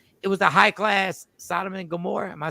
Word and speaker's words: Sodom and Gomorrah: was like the it was the high class sodom and gomorrah am i saying it right yeah yeah you